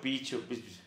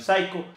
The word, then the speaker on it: Psycho: Mire, dice como picho, y yo no sabía cómo pronunciarlo. Yo decía sicho, picho, Colombian Psycho, no sé. Y después averigüé, es Colombian Psycho.